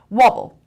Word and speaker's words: wobble: wobble wobble wobble waffle two syllables and the stresses on the first level perfect swarm one no stress drench one slobble no stress wobble wobble means to move